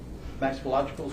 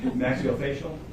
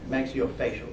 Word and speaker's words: maxillofacial: Yes, this, can't really read it from here, but that's the oral and maxillological surgery center. I butchered that one pretty bad, sorry. Maxillofacial? Close enough. Close enough? Maxillofacial.